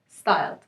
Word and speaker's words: pstyled: the idea is that it stems from the word psychology so the p is silent so it's styled so your style by